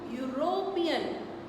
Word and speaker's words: European: Because we can't use because this is sounding u, European.